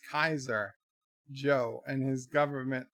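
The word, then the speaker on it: Caesar: a Fallout New Vegas Cesar pronounced Kaiser Joe and his government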